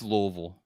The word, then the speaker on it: Louisville: home of the Sluggers it's Louisville like like many people say like you have to say it like you have marbles in your mouth but you know that